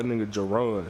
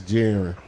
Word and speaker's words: Jiren: to mispronounce his name I used to call Jon Jon too Jon yeah that's that's jiren jiren that's jiren so shout up brother